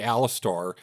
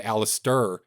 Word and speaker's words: Alis: it right this time I didn't say Alistar I said Alis so you guys can't